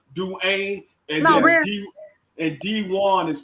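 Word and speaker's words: Dejuan: the u note though it's french actually to be honest with you it's pronounced do ain't not dwayne it's pronounced but people say dwayne's saying it real fast but it's pronounced do ain't and now and d1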